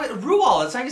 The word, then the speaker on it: Roald: so rule what role rule would respond it's how it rules i can say his name did you know that it's rule i know that's r-o-a-l-d but it's actually pronounced rule